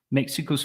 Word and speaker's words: Mexico's: Mexico's first president so it's an S but it's actually a zed sound z sound Mexico's first female president okay